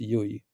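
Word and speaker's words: Llull: Uh his family name is like L Ul, but it's pronounced Yui.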